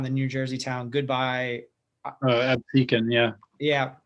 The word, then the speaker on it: Absecon: And so I wonder, oh gosh, I forget how you pronounce the name of the town, the New Jersey town. Goodbye. Absecon, yeah. Yeah, Absecon, yep.